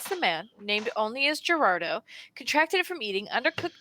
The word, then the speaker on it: Gerardo: You're saying it wrong. You have to put some bass in your voice. You have to say, Gerardo. Gerardo! Yeah. I lack the necessary parts to put bass in my voice. So roll your R's.